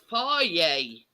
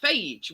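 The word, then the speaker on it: Fage: that looks at it it's spelled f-a-g-e you'd think phage wouldn't you like you did yeah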